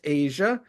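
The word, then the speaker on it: Aja: There's Asia AJ Abe and it's pronounced Asia.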